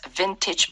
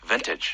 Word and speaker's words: vintage: 우리가 빈티지라고 하지만 실제 발음은 Vintage. vintage. 네, vintage. V-I-N-T-A-G-E. vintage라고 하게 됩니다. T-A-G-E로 끝나는데 A가 약간 E 발음이죠. 그렇죠. Vintage. vintage. 그렇습니다. 앞에 강세가 오게 되고 뒤는 약해지는 거죠.